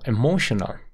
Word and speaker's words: emotional: it brought her her emotional emotional aquí la palabra fuerte está en la segunda sílaba mo mo mo ahora al principio tienes una e corta emotional emotional Sí esa corta puedes